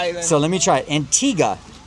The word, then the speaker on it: Antigua: Antigga.